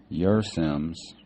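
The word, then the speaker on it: Kjersem: in a tent Dustin your Sims it's uh I guess the K is silent it's k j e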